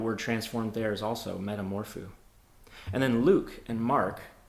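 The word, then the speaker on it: μεταμορφόω: that text is a Greek word and it's pronounced Metamorpho this Greek word appears in the New Testament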